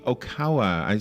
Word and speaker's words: Oikawa: called into the storm of international politics Yuki Okawa I I was saying his name wrong earlier uh is the author and the